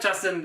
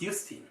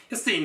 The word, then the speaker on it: Justine: No, it's not Justin. I'm sorry, it's pronounced Justine. Justine, do you practice at high volumes, and how do you protect your ears as a guitar player?